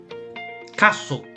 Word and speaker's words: castle: to reach the caster castle castle remember the the t is island castle castle okay so remember the t the letter t is silent castle okay what's the